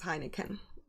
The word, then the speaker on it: Heineken: I'm sorry, trans girl, but it is Heineken.